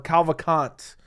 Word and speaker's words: Cavalcanti: Honestly, I could see Cavalcanti finishing her, or Cavalcanti is actually how you pronounce it.